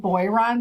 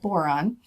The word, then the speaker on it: boron: i've talked to them i would pronounce it boy ron but they pronounce it boron and they said while